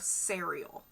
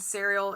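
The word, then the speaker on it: Sariel: me the first contact of cereal and serial is spelled s a r i e l that's like what it's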